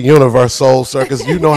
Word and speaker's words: Universoul: with me the national tour promoter of the Universoul Circus, Mr. Tony Starling. You know what? I am so excited to be here. You said it correctly, Universoul Circus.